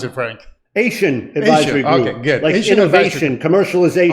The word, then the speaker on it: Ation: and president of ancient itching how do you pronounce it frank asian advisor okay good innovation commercialization oh very good